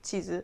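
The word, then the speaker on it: 地図: Just make sure... to stretch long sounds. And those small "tsu" sounds should be pronounced properly. Like in "machi (city)" and "match" or "chiizu (cheese)" and "chizu (map)."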